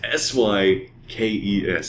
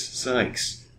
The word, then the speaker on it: Sykes: Who is Sky? Like, the Sky? Like, my name is Sykes. It's S-Y-K-E-S. Sykes. It's Sykes, man. Everybody gets it wrong. And even when they say Sykes, they call me Skies.